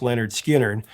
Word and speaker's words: Lynyrd Skynyrd: Now, Skinnard spent six weeks recording Pronounced Leonard Skinnard, and upon its completion, it was nothing less than one of the greatest debut records ever.